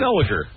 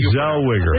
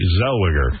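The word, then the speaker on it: Zellweger: Zeliger. Is that Zeliger? Yeah. No. There's Rene Zelwiger. It's a W. That's clearly a W.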